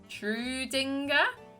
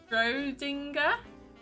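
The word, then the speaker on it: Schrödinger: Trudinger. I'm pretty sure I've pronounced that name completely wrong. Schrodinger.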